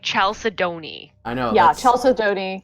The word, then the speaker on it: chalcedony: I don't know how to pronounce that, so It's Chalcedony.